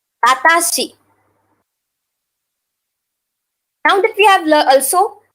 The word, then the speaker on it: watashi: For me, watashi. Watashi. So wa, then ta, shi. Watashi.